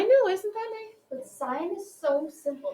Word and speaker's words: sine: which then looks like sin, but it's still pronounced sine.